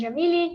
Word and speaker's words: Jamile: glad to be here so my name is yamily you can call me because it's much easier to to pronounce uh as you said i am brazilian